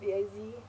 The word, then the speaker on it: Vaux: old way, going with the Vaux currency, pronounced VAZ.